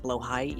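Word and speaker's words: Blåhaj: I want a Blahaj, which turns out is pronounced Blowhai, since the Swede said it.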